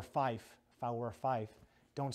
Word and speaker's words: five: You got five, which is pronounced fife, F-I-F-E, fife.